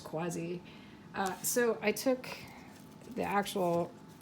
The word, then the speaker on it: Quasi: I went to see I don't know how they say it exactly, the Quasi, or just maybe it's just Quasi, I think, or Quasi. I'm pretty sure it's Quasi.